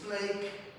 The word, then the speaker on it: plaque: Papá, pues la placa que afortunadamente en español y en inglés, en español se escribe placa y se dice placa y en inglés es plake y se escribe plaque, pero afortunadamente es la misma